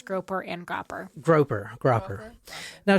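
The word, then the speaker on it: Gropper: estate agent Elise Stern groper grouper groper grer I spell it g r o p p e r groer g r o p p e rer yeah it's right there it's on the Facebook thing where I've I've actually heard it pronounced both ways groper and grer groper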